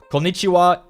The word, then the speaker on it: こんにちは: Konnichiwa is hello. And look, see this? Here, the ha は is pronounced as は wa. Konnichiwa.